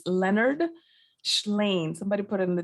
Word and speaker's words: Shlain: And if I didn't tell you who it's by, it's Leonard Shlain. Somebody put it in the chat. It's spelled S as in Sam, C as in Charles, H as in House, L-A-I-N.